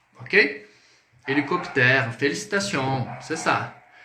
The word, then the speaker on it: hélicoptère: Quando utilizarmos o H em francês, ele é muet. Então, c'est une lettre muette. É uma letra muda. O H ele é mudo em francês, tá? Então, por exemplo, hélicoptère. Hélicoptère.